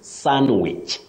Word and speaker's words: sandwich: one Willis oh Betty what we avoid is pronouncing the D in that word the D is silent so you say sandwich sandwich not sandwich the